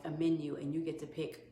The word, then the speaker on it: Amen: It's spelled like Amen. It's A-M-E-N. Daniel Amen.